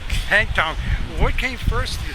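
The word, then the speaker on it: pétanque: Or how do you pronounce this game? Petanque. Petanque.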